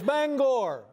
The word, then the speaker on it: Bangor: There's a certain sensitivity about how you pronounce the name of this city. Yeah, it's Bangor. All right, Bangor.